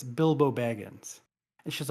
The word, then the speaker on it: Bilbo: in that one video Ashley pronounces Bilbo as biblo about 100 times and you preface it